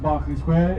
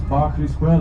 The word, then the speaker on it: Berkeley Square: Spelled Berkeley Square, but pronounced Barkley Square. It's a nightmare. English place names, especially in London, with weird pronunciations which don't correspond to the spelling. Berkeley Square is Barkley Square.